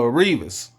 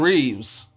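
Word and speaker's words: Reaves: And it was a re And it was a uh Revas. Oh, my bad. I'm saying your name wrong. Austin Reeves sighting.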